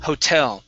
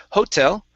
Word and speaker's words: hotel: go good um here this word is pronounced Hotel the stress is at the end of the word instead of Hotel it's the hotel lobby